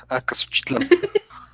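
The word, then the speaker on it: Acaxochitlán: I actually used to have trouble pronouncing Oaxaca. The funny thing is though. Here's one. Acaxo Acaxochitlan. Well, Acasuchitlan.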